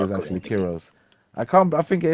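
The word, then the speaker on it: Kyros: it's Kiros actually. Kiros' backstory, but yeah, All right, sorry, I'm I thought it sorry. was pronounced Kairos, but if no, it's I you're apologize.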